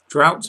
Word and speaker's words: drought: Drought must always rhyme with bout.